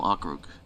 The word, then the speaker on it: Okrug: I pronounce the region Evenki National Okrug. I'm sure Okrug is fine, but I always called it Evenki National Okrug. Okay, Rug.